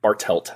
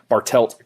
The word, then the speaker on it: Bartelt: like the idiot sure my last name is bartelt it's exactly how it's spelled I know and yet I I think I I think I said Bartel I think that's the bartelt and so it's funny